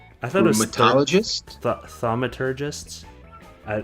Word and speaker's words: Thaumaturgist: Thaumaturgists. I'm Thaumaturgist?